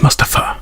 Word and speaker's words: Mustafa: Wait, is it Mustafa or Mustafa? It's Mustafa. Mustafa.